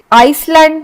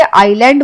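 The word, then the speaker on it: island: फिर आइसलैंड नहीं बोलते, आइलैंड बोलते हैं हम, क्योंकि इसमें आई साइलेंट है, तो हम बोलेंगे आइलैंड।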